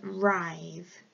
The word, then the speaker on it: writhe: It's a really tricky one because it's got a silent W at the beginning. It looks like it should say writhe, but it actually says writhe.